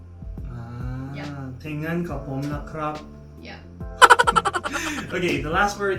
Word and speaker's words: แต่งงานกับผมนะครับ: Okay, so if it's like a guy proposing to a girlfriend, will probably be like แต่งงานกับผมนะครับ Yeah. แต่งงานกับผมนะครับ Yeah.